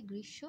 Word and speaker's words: গ্রীষ্ম: এবং আমরা জানি ম ফলা থাকলে সেই ম ফলাটা দীপ্ত হয়ে যায়, তাহলে আরেকবার স হবে, এবং যেহেতু উচ্চারণ ওকার করছি গ্রীষ্ম এবং নাসিক্যতা বোঝানোর জন্য চন্দ্রবিন্দু ব্যবহার করব।